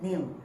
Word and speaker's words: kneel: When you pronounce, you do not pronounce the k. You do not pronounce the k, you pronounce kneel. You pronounce knock. You pronounce knee. So k has no sound.